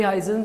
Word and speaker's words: Huygens: करेंगे भाई इसी में इसको भाई हाजन प्रिंसिपल भी बोलते हैं कई कई उ गन प्रिंसिपल भी बोल देते हैं आपकी मर्जी है आप इसको कुछ भी बोल दे उगन में इसलिए बोलता हूं स्पेलिंग से याद रहता है ठीक है वैसे इसको इजन प्रिंसिपल बोले जाता है एयर में और वैक्यूम